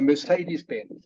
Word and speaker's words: Mercedes-Benz: Okay, so Mercedes-Benz is how it's pronounced.